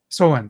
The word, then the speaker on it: Samhain: So Samhain? Oh, Samhain. Soen, thank you. There. Samhain.